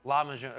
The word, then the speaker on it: lahmacun: Is it a lahmacun? Is that how I say that? Lahmacun, exactly. I butchered it.